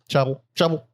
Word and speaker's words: Chappell: Jonathan Chappell, which sound Chapel. Chappell on bass.